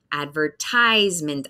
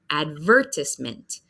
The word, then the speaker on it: advertisement: So here we have the word, I say, advertisement. Advertisement, I. So we hear a long I sound. That's the big syllable in the word. And then the British English one, we have a different focus. We say advertisement, advertisement. So I focus on advertisement. They say advertisement. So we have a different focus in the syllables.